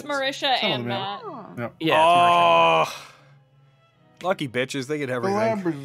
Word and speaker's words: Marisha: does Marisha Ray do the D and Beyond pronunciation it's Marisha and oh lucky they get